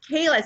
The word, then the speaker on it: Kela: Am I saying it right, Kela? Kela.